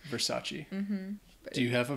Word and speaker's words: Versace: understand you you'd say Versace there you go the e at the end Versace mhm do you have